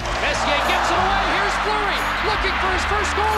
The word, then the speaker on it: Fleury: Therrien Fury, is that how you say it? Therrien Fleury. That was close enough, and I like this kid, I'll tell you. Messier gets it away, here's Fleury, looking for his first goal of the series.